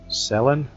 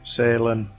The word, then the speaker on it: Salen: uh area's name um I did get told off last time I think it's sellin but we are pronouncing it Salin exactly how the people at s and Jetty pronounced it same with lock sunart